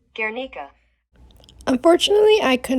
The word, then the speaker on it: Guernica: Yes, in 1937, and it is an oil painting, and it is pronounced the Guernica. And if I'm pronouncing it wrong, here's how Google says it. Guernica.